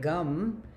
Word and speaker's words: Gam: So, Om Gam Ganapataye Namaha, and remember that gum, pronounced just like chewing gum, is the bija mantra for Ganesha, the seed syllable, that kind of reinforces everything.